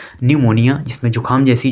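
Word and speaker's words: pneumonia: P N-you M ओ एन आई ए और न्यूमोनिया के होता है यह एक वे डिसीस होता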